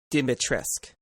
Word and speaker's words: Dimitrescu: It's pronounced Dimitrescu.